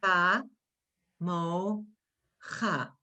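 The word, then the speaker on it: כמוך: Ka, mo, cha. The kaf has the dot. The chaf has no dot. The kaf has the dot, ka. Mo, cha. Does everybody see that, how that word is pronounced?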